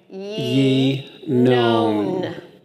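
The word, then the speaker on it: ינון: with the dot underneath, so it's going to say yi. Yi. And then the noon with the vav, oh. And the dot above that's going to say no, and the final noon. So you're going to say ye known.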